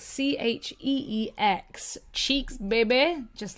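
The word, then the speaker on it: Cheex: So that is spelled C-H-E-E-X. Cheeks, baby.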